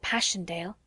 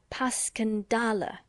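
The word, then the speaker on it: Passchendaele: Marant, it was so strange to hear you call it Passion Dale. Why, if I may ask? because that's the way I pronounce it to myself. But I looked it up and it's more like puscandala.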